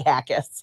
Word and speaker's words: Jaquez: Did I get that right? Pretty close. Say it. Hackis.